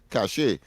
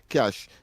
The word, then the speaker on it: cache: And it is it is pronounced cash. The the caller is saying that it's long cashache.